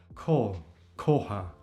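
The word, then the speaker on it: kohë: this word before, ko, it sounds almost only as K and O, ko. Because we have the at the end, the E with 2 dots, and it's omitted, it's not pronounced. And that leads to the H being not pronounced either, so it's very silent.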